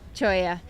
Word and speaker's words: cholla: Cholla.